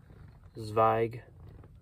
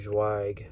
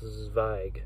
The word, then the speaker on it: Zweig: It's I just realized I've been saying his name wrong for like 2 years. I finally looked it up and wanted to get it right. I thought I've been saying Zweig, and then I heard Zweig, but now I looked it